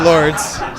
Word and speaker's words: Lourdes: a dangerous thing because you feel like it's spelled ello you are des so it must be like Li ha but no it's it's Lourdes so well so people